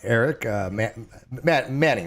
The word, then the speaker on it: Erik Manning: It's from Erik Manning, right? That's how you pronounce Yep.